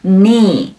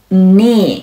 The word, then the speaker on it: knee: 注意这个单词开头的字母 K 是不发音的，读作 knee knee。